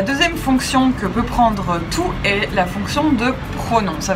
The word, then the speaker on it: toutes: Toutes sont différentes. Toutes est pronom féminin pluriel, écrit T-O-U-T-E-S et prononcé toutes.